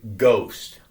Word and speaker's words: ghost: hosts this is why the letter H is in the word ghost it's not needed is it I mean it's spelled Ghost g-o-s-t and the sound that you if you have if you looked at the spelling G OST that's how you'd read it ghost the exact same way so they added